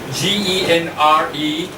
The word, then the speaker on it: genre: G-E-N-R-E. How do you pronounce it? Normally, G-E-N, we say Gen, right? R-E, but in English we say genre.